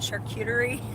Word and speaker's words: charcuterie: enough this weekend I feel confident calling it charcuterie like I'm okay with it but we're about eight hours we start talking about charcuterie and raising pigs and the thing is is